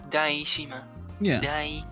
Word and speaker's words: Daishima: the wrong with like your name is probably just saying die instead of da which it's pronounced it separately because everything is pronounced separately daishima that's why i have